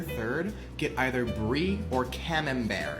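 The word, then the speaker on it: Camembert: But I recommend for your third get either Bri or Cam Bear. It's spelled Cambert, but Cam Bear.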